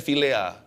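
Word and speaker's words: philia: kasih yang sempurna tapi kasih filea bacanya filea tapi ejaannya PH i l a kasih Filia ini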